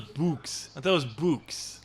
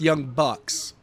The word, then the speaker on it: Young Bucks: Yeah, I thought it was Books. yeah. No, it's Young Bucks.